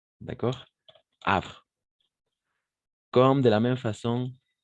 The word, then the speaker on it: Havre: est muet n'est-ce pas le H est muet donc en français de la même façon h le H est muet d'accord et donc on va simplement prononcer à d'accord Havre comme de la même